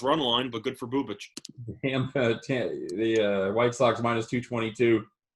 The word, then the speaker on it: Bubic: Again, Is it Bubich? I've been pronouncing it Bubik this entire time. It is Bubich, Scott.